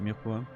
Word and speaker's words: mirepoix: Remove the E. Mirepoix. If you really want to pronounce it, you know, French, it's mirepoix. And you need the weird R, but obviously that's, you know.